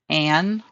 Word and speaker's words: anion: the number of protons, and it's called an anion, and that is pronounced anion.